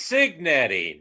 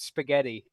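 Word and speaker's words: Cignetti: Yes, the great coach of Indiana, Kurt Spaghetti. Hey, does it really? His last name sounds like spaghetti.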